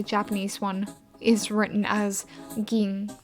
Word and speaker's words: Gin: For the longest time, I thought that Gin was actually, like, pronounced Jing.